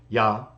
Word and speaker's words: Jah: it used from it yod or J in English yah in Hebrew and also pretty much the same in Greek so let me read